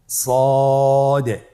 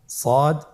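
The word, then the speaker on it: صاد: মোটা হরফ উচ্চারণের ক্ষেত্রে মোটা করে পড়তে হবে এবং উচ্চারণ করার সময় তিন আলিফ টেনে পড়তে হবে আপনার আমার সাথে বলুন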